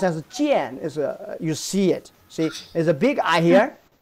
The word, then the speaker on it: 见: That's the first layer mean of this character pronounced as jian.